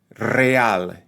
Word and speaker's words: real: this point right so if we have the word real you hear two syllables that a real real right that's hius pronouncing those vowels that vowel combination in two distinct syllables another word the word